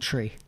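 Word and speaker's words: Twi: Which is called tree. Tree. Like, how do you spell that?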